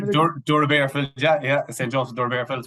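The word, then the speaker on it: Doora Barefield: Clare club called, correct me if I'm wrong pronouncing this now, St. Joseph's Dura Bearfields. I think it's the name of it. Dura Bearfields, yeah.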